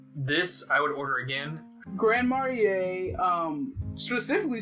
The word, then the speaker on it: Grand Marnier: Grand Marnier?